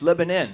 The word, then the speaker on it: Lebanon: It's spelled with an O-N at the end. They don't like it pronounced like that. I went up there. It's Lebanon. I'm like, well, you ought to put an I in there then.